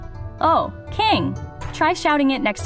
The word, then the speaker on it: 王: Shout, "Oh, that's the onyomi, the Chinese reading. It sounds like a sudden realization or maybe the sound you make when you see the axe falling." "Oh, king."